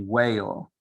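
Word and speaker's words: Weil: Veil pairing, or I don't know how it's pronounced, maybe whale. I always pronounce it veil, W-E-I-L.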